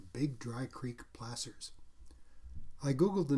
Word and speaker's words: placer: also discovered through google in the context of mining is like gasser placer a placer mine is